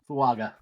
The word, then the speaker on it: Fuaga: 20 to the Steelers fuaga fuaga fuaga that's a a not a g yeah I see Fu